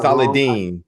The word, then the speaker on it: Saladin: Is it Saladin? I say I say Saladine, but Saladin is not Saladine.